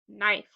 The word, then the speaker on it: knife: Silent E makes the I say its name. Word is knife.